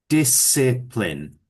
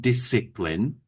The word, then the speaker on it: discipline: Discipline. So it's a soft I each time. Discipline.